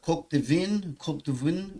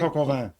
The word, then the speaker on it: coq au vin: The coq de vin was excellent. Is that I pronounced that right? Coq au vin.